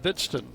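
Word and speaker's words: Hbidsten: 1 strike to count to Bidston. Pitch is high. Young man spells his name H-B-I-D-S-T-E-N. He is from Minnesota. You're getting that down. Silent H. Pronounced Bidston.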